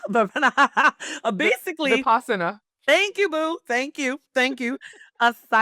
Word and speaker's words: Vipassana: Vipanyasa, but basically, Vipassana.